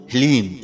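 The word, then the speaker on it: ह्लीं: ध्यान से सुनिए ओम हलीम जी हां मित्रों मंत्र को एक बार आप फिर से ध्यान से सुनिए ओम हलीम इसमें हा ला और बड़ी ई की मात्रा और अं की बिंदी लीम यह है माता बगलामुखी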